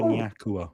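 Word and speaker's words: Nyakuhwa: Close. Tanatu Nyakua is apparently the way you pronounce it.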